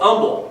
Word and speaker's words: Humble: was no longer dun's Prairie it now it's Umble and of course it's s you don't say